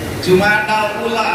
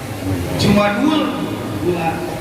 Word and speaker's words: Jumadil Ula: kalimat Jumadil Ula, dan kita membacanya selalu dikhutbahkan, dikasrohkan Jumadil Ula. Itu sudah jadi kebiasaan. Padahal mungkin boleh juga kita baca dengan kalimat Jumadal Ula atau Jumadul Ula. Boleh saja, tapi tidak familiar.